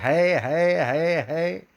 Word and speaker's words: हे: तो इस है को नहीं करना है, हमें क्या करना है, हे। जय हे जय हे जय हे, जय जय जय जय हे। ऐसा हे बोलना है, न कि है।